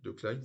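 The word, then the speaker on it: de Kleijn: harvid de Klein euh oui de Klein c'est comme ça qu'on prononce euh bon alors encore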